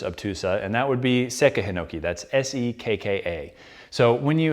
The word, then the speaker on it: Sekka Hinoki: So it's not Seika Hinoki, it's not Sekka Hinoki, it's Sekka Hinoki. So there's a slight pause there.